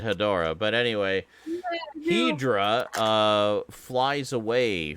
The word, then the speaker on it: Hedorah: wonderful scene where uh hedra as they pronounce it in the that particular cut i forgot about that and i grew up with that dubstep pretty sure everyone pronounces it hedorah but anyway uh flies